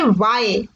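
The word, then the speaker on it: why: BMW के बाद आते हैं तो हम इसको प्रोनाउंस करेंगे व्हाय देखिए इसमें डब्लू की साउंड आ रही है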